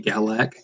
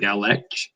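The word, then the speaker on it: Gallach: So it'll be Galac instead of Galach or whatever.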